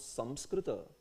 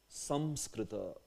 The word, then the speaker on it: Samskrita: If you wish to pronounce Samskrita, then this is the pronunciation. Samskrita. Samskrita, that's the pronunciation actually.